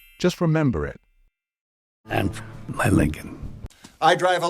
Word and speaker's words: Lincoln: the thing is that the second l in this word is silent so the correct pronunciation of this one is Lincoln just remember it and my Lincoln I drive a l